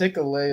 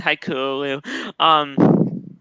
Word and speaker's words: Hikuleo: Nah, I was just saying it's pronounced Hikuleo. Hikuleo. Yeah, Okay. Hikuleo. Whatever. He's like, I'm gonna let it slide. Hikuleo. I said Haikulu.